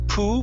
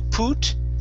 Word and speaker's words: put: Okay, right here instead of poo, put, it's puh, put.